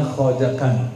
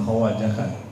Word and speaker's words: khojakan: Khatam sebenarnya bacanya khojakan, bukan khawajakan.